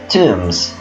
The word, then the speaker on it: tomb: So what's the meaning of the word tombs? Let's see. Yeah, look at this picture. This is a tomb. Okay, so tomb. We don't say tomb. Tomb. Okay, so letter B here is silent.